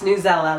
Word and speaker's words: Newsela: And they did say it's Newsela, like umbrella.